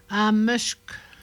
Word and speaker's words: ameshk: Ameshk. Castor. Lui, la prononciation, c'est le son consonantique, c'est chk, ameshk.